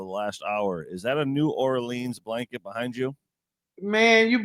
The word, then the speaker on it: New Orleans: See, y'all pronouncing it wrong. It's New Orleans.